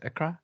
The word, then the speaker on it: Accra: and worked in accra is it accra am i saying it right yes you're right um but yeah he's gone